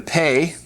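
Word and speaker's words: פ: And then the other one will be the pay. If it has a dogish, then it has a definite p sound. If it does not have a dogish, then it has an f sound.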